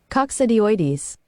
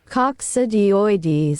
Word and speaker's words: Coccidioides: How do I pronounce this? These right here. What are they called? Coccidioides. Say that again there. Let's get it slow there. Coccidioides.